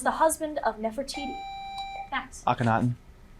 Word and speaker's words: Akhenaten: Max Aenatan. Pronounce it again. Aenatan.